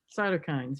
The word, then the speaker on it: cytokines: cohort they keep talking about that is it cytokines how to say it cytokines yeah and so what are they and do